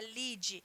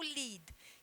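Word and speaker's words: lide: Temos o lead, né, que em português também se pronuncia lead, mas L-I-D-E, que é essa parte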